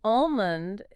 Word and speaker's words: almond: Almond is another one with a silent L.